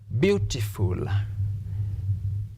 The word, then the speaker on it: beautiful: So for adverbs and adjectives, stress the first syllable. Stress the first syllable. An example, the word beautiful. Beautiful. Beautiful has how many syllables? We can apply the first technique we used when we introduced. Beautiful. Your jaw drops 3 times.